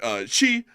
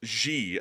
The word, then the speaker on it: Xi: And also, I got to say I didn't know that Xi was pronounced like that. I actually thought it was Xi as in like the English X pronunciation.